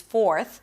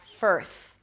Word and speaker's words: fourth: of course, cuz it's 'fourth' So make sure that you pronounce the O sound clearly before you bring the tongue up for the R. fo- fo- So it doesn't sound like 'firth', 'firth' cuz then some